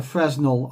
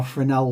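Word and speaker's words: Fresnel: In number two, I have a Fresno or Frenel lens depending on which way you pronounce it.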